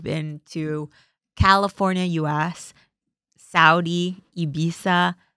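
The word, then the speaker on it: Ibiza: In the past, say two weeks, you've been to California, US, Saudi, Ibisa, Ibitha, right? Good pronunciation.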